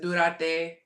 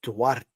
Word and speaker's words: Duarte: Who is, pronounce it, Durate? Oscar Duarte.